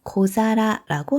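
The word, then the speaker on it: 小皿: 때 앞접시는 고자라고 해요 사라 하면 접시인데요 앞에 작다라는 의미에 코를 붙여서 고자라고 하는 거예요 일본어를 잠깐 말씀드리면 이렇게 두 개의 말이 붙어서 한 단어가 될 경우에 발음의 편의상 뒤에 단어가 탁음이 되는 경우가 많이 있어요 그래서 사라가 타음이 되어서 자라 코라가 된 거예요 그래서 이런 작은 접시 앞접시를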